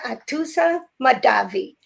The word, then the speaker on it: Atousa Mahdavi: Atousa Mahdavi. Am I saying it correctly, Atousa? Yes, it was perfect.